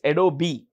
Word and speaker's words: Adobe: Adobe, the E is pronounced. It's pronounced, okay? It's Adobe.